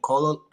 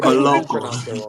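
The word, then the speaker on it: Koloko: I think that Brown and Colo, how do you say his name? Christian Colo. Yeah, Colo. You're Coloco.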